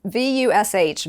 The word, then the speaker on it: Vush: Well, so VUSH, Vush, rhymes with Bush, is an incredible company.